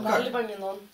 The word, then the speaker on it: Паралипоменон: Паралипоменон.